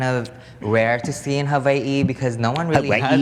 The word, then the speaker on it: Hawaii: By the way, I think that is like the right way to say Hawaii.